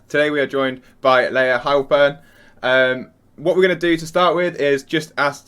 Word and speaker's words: Layah Heilpern: It's Layah Heilpern, pronounced perfectly.